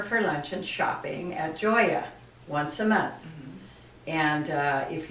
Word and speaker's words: Gioia: Well, the name of the business is Gioia. I tell people besides pasta and pizza, you'll learn a new word. Uh-huh. Gioia, spelled Gioia, pronounced like Joya. That's the name of the business and it means joy.